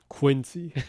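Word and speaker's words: 滅却師: It's written Mekyakushi and it's pronounced Quincy.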